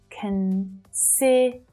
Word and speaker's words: consider: So even though it's a stressed syllable, that vowel sound is still short, though it's the strongest one, okay? And naturally, the other two syllables, either side, they reduce down, right? They're unstressed. So they are lower in pitch, they're softer. You don't hear them as loudly as the middle one.